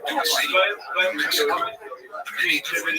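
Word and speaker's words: Dulce: place there near the small town of Dulcie, pronounced Dulcie, New Mexico.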